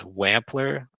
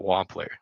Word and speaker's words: Wampler: It is Wampler, not Wampler. I think that's how we were pronouncing it earlier in the streams.